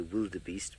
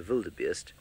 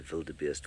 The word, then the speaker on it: wildebeest: terribly when we say wildebeest because of course it's a Valle de beast because it's a Dutch word or Afrikaans word and we should say it as such and I said to